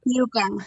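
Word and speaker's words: yuca: a lot of Y is it yaka how do you say that Yuka Yuka okay uh you know I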